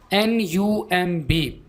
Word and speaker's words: numb: NUMB, B silent होगा।